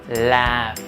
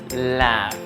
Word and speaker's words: laugh: Laugh. Se pronuncia laugh. No se pronuncia con la C al revés, sino con la AE intermedia.